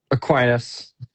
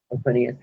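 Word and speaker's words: Aquinas: I don't know how to pronounce that. Aquinus. Aquinus.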